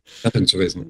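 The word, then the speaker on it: Gattungswesen: the species being, the Gattungsweisen? Is that Gattungsweisen? Gattungsweisen. Yeah, Gattungsweisen. Right, sure, yeah. Proper German pronunciation.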